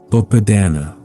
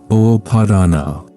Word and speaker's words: Upādāna: 1: Understanding Attachment, the root of our suffering, Upādāna explained. In the Pali language that the Buddha spoke, there is a word that describes the very heart of human suffering. The word is Upādāna. It is pronounced Upādāna, and it means clinging, grasping, or attachment.